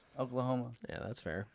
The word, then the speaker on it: Oklahoma: Oklahoma. Yeah, that's fair. Rhymes with glaucoma.